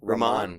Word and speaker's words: Rahman: Rahman. Yeah. It got fucked Think up of it like this. It's like ramen, but not that.